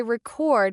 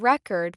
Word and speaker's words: record: For example, we say record when it's a noun and record when it's a verb.